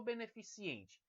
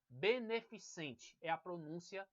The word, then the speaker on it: beneficente: padrão nós temos agora beneficente ou beneficiente vocês vão perceber beneficente adequada certo porque beneficiente vem da palavra benefício veja o que vem de benefício isso leva as pessoas a escolherem beneficiente elas são induzidos ao erro mais cuidado é beneficente